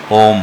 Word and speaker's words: ओम: तो ओंकार की जब जाप हम करते हैं ओंकार का उच्चारण अ उ व मिलाकर ओम है। तो नाभि से आप उच्चारण की शुरुआत करें। कहां से? नाभि से। नाभि से ओम नाभि से हृदय तक आने में अ हृदय से कंठ तक उ और कंठ से शीश तक आ जाए तो म बोल के इसे पूर्ण करें।